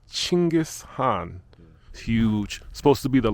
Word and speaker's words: Chinggis Khan: And I just learned that I've been pronouncing his name incorrectly. To all the Americans, we've been saying it wrong. It's not Genghis Khan, it's Chinggis Khan.